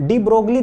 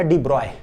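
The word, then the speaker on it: de Broglie: तो 1924 में ना डी ब्रोगली, देखिए ऐसे भी बोल देते हैं, लेकिन ना एक्चुअल प्रोनाउंसिएशन जो इसका डी ब्रॉय, क्या है, डी ब्रॉय।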